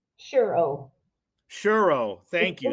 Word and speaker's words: Ciurro: Did I pronounce that correctly? Ciurro.